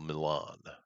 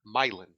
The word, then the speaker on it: Milan: In Michigan, just to the north of me, about 40 minutes, there is a town that is spelled exactly the same as Milan, Uh-huh. and it's pronounced Milan.